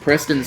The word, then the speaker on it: Preston: your name uh and Preston's name is pronounced Preston he wants me to